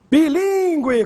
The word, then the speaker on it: bilíngue: Bilíngue, com agudo no segundo I. Repare que o trema sumiu e a pronúncia continua bilíngue. Consequência também perde o trema, mas não perde o acento.